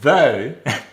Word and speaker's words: though: We also have though. Again, we have the same cluster, but now it's that diphthong O.